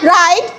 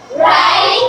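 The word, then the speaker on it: wrong: ডবলিউ এর উচ্চারণ হয় না। যেমন যেমন রাইট রাইট রং রং ফু ফু ডবলিউ এর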